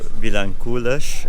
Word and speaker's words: Vilankulos: p.m and I just made it to vilancoulash I think it's how they pronounce it I've been think I've been pronouncing it this whole time assuming it's like Spanish phonetics which Portuguese is definitely not Spanish phonetics but I'm finally here